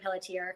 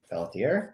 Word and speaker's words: Pelletier: I'm saying Pelletier because I'm from New Hampshire, and that's how we pronounce the French Canadian.